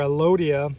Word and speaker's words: Elodea: This is Elodea. So, or Elodia, however you want to pronounce it, it's fine with me.